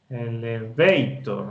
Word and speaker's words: elevator: Yo no digo elevator, no. Elevator, no. Elevator, no, tampoco. Elevator, esa es la fuerza, está en esa primera sílaba.